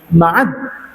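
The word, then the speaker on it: معدّ: Ibni Mudharab ibni Nizar ibni Ma'ad, dalnya tasydid ya, Ma'ad ya, Ma'ad ibni Adnana.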